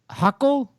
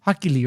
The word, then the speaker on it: Hochul: But this week, New York Governor Kelly Hochul, who's that? The Hercules referee for the NFL, Hochuli, right? Hochuli, yeah. So it's like Hochuli, but without the E at the end.